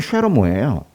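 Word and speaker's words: שְׁלֹמֹה: 솔로몬은 원래 히브리어 발음은 쉐로모예요.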